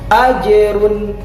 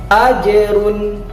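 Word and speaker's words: أَجْرٌ: Bacanya adalah ya, ajerun. Sekali lagi ajerun. Nah, sekali lagi dibaca dengan suara yang lantang, ajerun. Itu disebut dengan huruf qalqalah.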